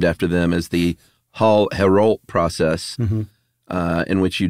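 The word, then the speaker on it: Héroult: say Paul Herald hero how would you pronounce that Herald Herald I think you might actually say the T in that one I'm not sure h-e-o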